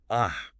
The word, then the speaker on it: a: The article a is almost always pronounced in its weak form, which is the schwa sound. We say a cat, Kate. So, when would you ever use the strong form ah?